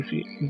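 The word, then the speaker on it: ث: इस लेटर के बारे में आपको थोड़ी सी डिटेल बताता चलूं कि ये जो सा है, इसको प्रोनाउंस करने के लिए यानी इसका मखरज अदा करने के लिए आपको क्या करना है।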